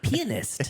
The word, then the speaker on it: pianist: It's pianist. Pianist. It's pianist. It's not pianist. Yes, it is. At the end of the day, the emphasis can be on a different syllable, and we understand what you're saying.